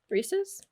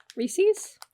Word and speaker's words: Reese's: Reese's? Reese's? Yeah, see, I don't like that. Apparently people on the East Coast call them Reese's. That's not correct. It's Reese's.